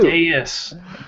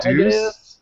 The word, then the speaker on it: Deus: Deus. Deus Ex. D-us. D-E-U-S. No, it's Deus Ex. It's Deus? Yes. It's not Deuce? I thought it was Deuce. It's not. It's Deus Ex.